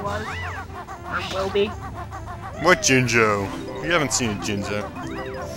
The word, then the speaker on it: Jinjo: What Jinjo? You haven't seen a Jinzo. Jinzo? I said Jinjo.